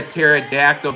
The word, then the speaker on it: pterodactyl: Why can't you hear a pterodactyl go to the bathroom? Because the P is silent.